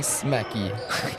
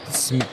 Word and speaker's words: Smeek: Why do I keep saying Smecky? Because it's spelled with 2 E's around the K. Smeek. Oh, bro, with a tough 3.